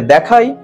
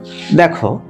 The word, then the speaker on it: the: এইখানে এটার উচ্চারণ কি হবে, দা। আবার এইখানে দা, এই যে এই উচ্চারণটা হবে কি, দি। তাহলে কিভাবে দিকে আমরা উচ্চারণ করছি, এখানে যেহেতু এটা কনসোনেন্ট আছে, তো দেখো this is দ্য story of দি ওল্ড ম্যান। এখানে এই ওটা ভাওয়েল আছে।